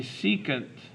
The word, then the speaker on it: secant: The next one is SEC, which is pronounced the secant of theta.